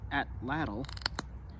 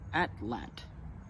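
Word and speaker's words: atlatl: an atlal hunt with I was recently told that the correct way to pronounce at lle is at lat and that's going to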